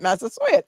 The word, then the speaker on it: Massasoit: Massasoit.